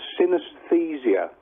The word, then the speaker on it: synesthesia: It's pronounced synesthesia.